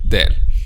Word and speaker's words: ذ: all these letters from letter alif to letter there and today in sha allah it's letter the turn okay so our discussion today in sha allah about letter there okay so as we know we discuss all